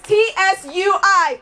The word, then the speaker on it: Tsui: That's T-S-U-I, pronounced Tsui.